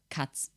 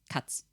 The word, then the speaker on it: Katz: The way I would say it is probably going to be similar, which would be Katz. Kind of like this. Katz. Because the A is pronounced like an A. Kind of like the plural, yeah.